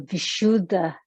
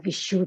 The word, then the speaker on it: Vishuddha: the throat chakra or the vishuddha chakra or visual chakra you'll hear the pronunciation differently depending on which region of india you're from means uh the seat